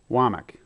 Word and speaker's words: Womack: Womack. Do you pronounce it Womack or Womack? Womack.